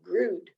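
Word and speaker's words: grøt: Afterwards, we sit around the dining room table and eat my favorite dessert, creamy rice pudding called grud. It rhymes with good, good, grud. I guess it's grud.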